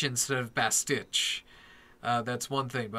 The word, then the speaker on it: bastich: related note is that it is pronounced bastich not bastiche he did get it by that last episode of Krypton season two but still uh I I cringed every time he said best teach instead of bastich uh